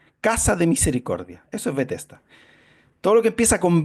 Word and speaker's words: Betesda: de la oveja un estanque llamado en hebreo betesda el cual tiene cinco pórticos la palabra betesda significa misericordia gracia casa de misericordia Eso es betesta todo lo que empieza con bet es casa